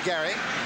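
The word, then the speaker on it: Gerry: huckleby and Gary Ellis spells it g RI pronounces it Gary and receivers Lofton and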